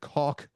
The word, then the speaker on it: caulk: That's because I pronounce caulk the way it's supposed to be pronounced.